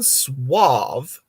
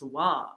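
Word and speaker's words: Sauvé: a bad guess what government office did Jean swav step into on May 14th 1984 I don't know but that's a great name Jean Suave oh I think it's saave it's sa Au UV but it's pronounced swav but it's pronounced swav um Surgeon General Attorney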